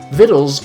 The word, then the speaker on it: victuals: vittles saloon cerveza vittles are spelled like victuals their food saloon is